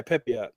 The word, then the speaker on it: Pepiot: Yeah, Pepiot.